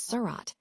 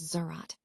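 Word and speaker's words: صراط: Similarly, the word surat meaning path or bridge was read differently by different groups. Some as surat, others as zerat.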